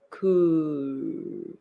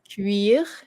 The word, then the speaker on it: cuir: So you probably pronounce this as one word. Cool. And you don't pronounce the R.